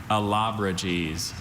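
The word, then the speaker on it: Allobroges: Are there any alternate pronunciations? There's just the one, Alabrages.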